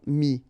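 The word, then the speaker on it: mis: All right, and then ES now, final S not pronounced, but still you need to write it. Mettre, for instance, EWTRE, will become mi, ES.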